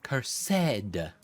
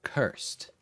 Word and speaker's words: cursed: It's cursed, not cursed. The extra syllable makes the stuff seem fancier.